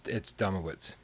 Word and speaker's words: Domowicz: It's Domowicz. Domowicz is 3 syllables.